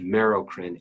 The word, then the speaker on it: merocrine: It's pronounced merocrine, M-E-R-O-C-R-I-N-E.